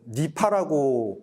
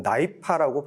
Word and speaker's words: NIPA: 그리고 영문으로는 NIPA인데 NIPA를 가끔 다른 분들은 니파라고 발음을 좀 하시기도 하는데 저희가 영어로 발음할 때는 나이파라고 발음을 합니다.